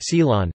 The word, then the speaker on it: סילאן: It is used in Israel, under the name silan, Hebrew and Judeo-Iraqi Arabic, siln pronounced silan, as a dip for bread, in pastries, as